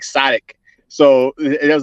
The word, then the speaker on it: Sodiq: mine is spelled with an O, but it's like Sadiq.